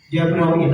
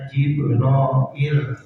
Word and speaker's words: Jibril: Jabro itu maka daa memanggil Allah Jabrailah arahkan malaikat Jibril alaih salam membacanya bisa Jabrail, bisa Jibrail, bisa Jibril bisa Jabril. Ya boleh.